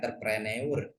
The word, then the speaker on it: entrepreneur: Tulisannya entrepreneur, U-nya nggak usah dibaca.